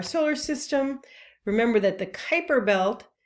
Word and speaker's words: Kuiper: meteoroids dwarf planets the kuiper belt and the oort cloud so here's a cartoon of our solar system remember that the kuiper belt which rhymes with viper is a region of